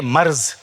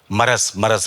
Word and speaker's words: مرض: تو لفظ ہے, لوگ کہتے ہیں مرض, تو مرض ہے تو اس کا صحیح تلفظ مرض بڑھتا گیا جو دوا کی مرض.